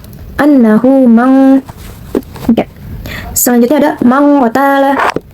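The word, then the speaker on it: من قتل: Selanjutnya ada mang qatala. Hukum tajwidnya yaitu ikfa, karena terdapat nun mati bertemu dengan huruf qaf atau huruf ikfa dan bacanya berubah menjadi ang seperti ini. Mang qatala.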